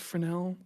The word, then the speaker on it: Fresnel: Um, so if you don't have a Fresnal node in your material editor, you can just do a dot product with the camera vector.